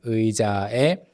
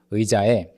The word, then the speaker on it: 의자에: And 의자에, the 의 sound is tricky at first. You want to say and e really quickly, like together, shorten the two sounds. 의자에, 의자에, okay?